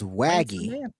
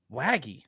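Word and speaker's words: Waege: camp I heard yeah wagy like Shaggy like Shaggy and wagon I didn't know all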